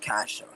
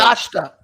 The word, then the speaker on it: Kashta: It's a T in there as well. So Kashta. yes, Brandon got it right.